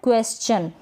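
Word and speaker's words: question: क्वेश्चन। ये श नहीं पढ़ रहे यहाँ पर, क्वेश्चन। ये S का आधा स बन गया है, ठीक है।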